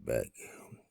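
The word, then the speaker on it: Boek: name is Beck Beck the uh back is spelled b o e k and uh and uh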